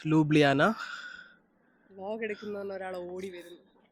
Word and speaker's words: Ljubljana: Ljubljana പക്ഷെ spelling LJUBJ കുറെ എല്ലും ജെ ഒക്കെ ഉണ്ട്. ബട്ട് then it's pronounced Ljubljana.